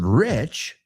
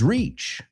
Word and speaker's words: reach: Just be careful that you're not pronouncing the word rich the same as reach. Okay, reach. You can reach me at email.